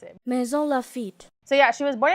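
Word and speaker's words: Maisons-Laffitte: I'm gonna put that, and then I'm gonna put the actual saying of how to pronounce it. Maison Lafitte.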